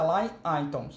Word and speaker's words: align items: Na verdade, a pronúncia é align items.